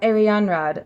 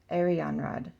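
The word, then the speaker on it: Arianrhod: now I feel silly so Aran Rod that sounds way more pretty Arion Rod Aran Aran Rod yeah cuz that's the emphasis on the middle one Aran Rod okay this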